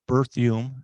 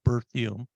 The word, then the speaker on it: Berthium: As he said, my name is Berthium, and it's pronounced birth like childbirth, Hume like perfume. So Berthium, and or you just call me.